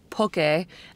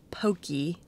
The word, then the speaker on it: poke: you're mispronouncing it because it's not an american word but it is pronounced poke and not pokey or poke so if you're ever